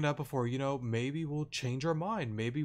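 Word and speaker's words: Mae: Or Mai, or no, sorry, May. May's the correct way to say it.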